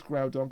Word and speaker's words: Groudon: You're right, it is Groudon. God damn it, I've been mispronouncing it for 15 fucking years.